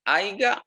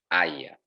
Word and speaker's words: haya: Y podemos citar por una palabra, ¿cómo se dice? ¿Haiga o haya? ¿Cuál es lo correcto? Lo correcto es haya.